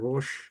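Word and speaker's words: ראש: 로시라고 그러죠, 로시. 근데 단순한 로시가 아니죠. 히브리어 자음을, 로시는 발음하기 아주 어렵습니다. 혀를 똘 말아가지고 끝을 입천장 뒤에 안에 깊숙이 넣었다가 로 해야 됩니다.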